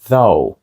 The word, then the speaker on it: though: так ось ou H тут звучить як though правда потім іде слово